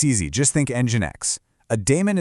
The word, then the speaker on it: daemon: Daemon is pronounced demon, exactly like the mythical creature.